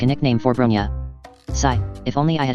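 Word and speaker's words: Bronya: in that new world brony erm brony something doesn't sound right i'm not pronouncing her name like the way alexandra pronounced it then is it bronia or brunia yes bronia that sounds more like it but brony does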